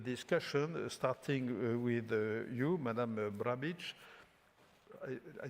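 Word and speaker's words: Brnabić: So I launch immediately the discussion, starting with you, Madame Brnabic. I pronounce less well than the first time. Brnabic, well, the first time it went easily.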